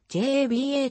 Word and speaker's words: Joba: フリーエージェント f へ登録名の所ばは所場ではなく java jaba と読むのが正しい父親は米国先住